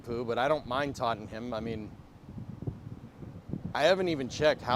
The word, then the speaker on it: Tottenham: Tottenham.